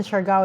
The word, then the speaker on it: Siargao: Is that Siargao? Is that how you mm-hmm. pronounce it? Mentioned Siargao, yeah.